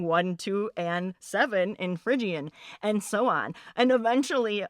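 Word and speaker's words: Phrygian: Or, you know, of course, they didn't pronounce it correctly, but I said, "It's frigian."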